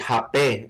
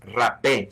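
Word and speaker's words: hapé: Yeah, well, first of all, the way you pronounce it, hape, is how it's pronounced on the Brazilian side of the border. That right. The Brazilians call it hape. In Colombia and on the Spanish-speaking side of the border, it's rape.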